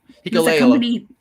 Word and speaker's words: Hikuleo: How do you pronounce it? Hikuleo. Hikuleo.